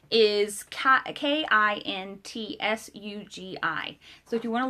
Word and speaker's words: Kintsugi: Kitsungi is Kintsugi.